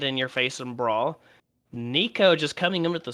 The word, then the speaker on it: Niko: Robo says we're pronouncing it wrong. It's Nico, just N-I-K-O, Nico. Nico? Is there no N? Well, Nico, Ni. That makes so much sense. Nico, Ni. Oh, Nikon was so stupid.